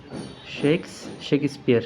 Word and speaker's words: Shakespeare: শেক্সপিয়ার তো তুমি এটা পড় তো উইলিয়াম শেক্সপিয়ার তো শেক্সপিয়ার থেকে শেক্সপিয়ার বললে আরো ভালো হেক্সপিয়ার এখানে ছোট করে একটা রস শেখ স্পিয়ার শেখে আমি এতদিন ধরে জানতাম যে শেক্স তারপর